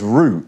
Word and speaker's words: route: Now you'll notice there I pronounced the word root as root, sounding like R-O-O-T. That's the British way to pronounce it.